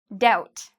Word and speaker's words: doubt: Doubt. Again, if you like the band No Doubt, okay, with Gwen Stefani, her old band, you don't have to worry because you don't pronounce the B.